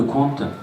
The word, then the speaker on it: Qwant: Et là, on vient de parler de Qwant à la radio, sur France Info. Voilà, toute l'administration bascule sur Qwant. Alors ça s'écrit Q-W-A-N-T.